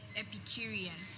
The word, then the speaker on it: Epicurean: Please, may I have the definition of the word Epicurean?